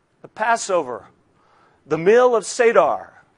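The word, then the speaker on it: Seder: Passover the mill of sadar it's spelled sed er it sounds like sa d ER there's four cups at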